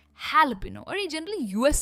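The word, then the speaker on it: jalapeño: हेलोपेनो। इसे कहते हैं हेलोपेनो। भले ही ये जे से स्टार्ट होता है पर ये हैलोपेनो।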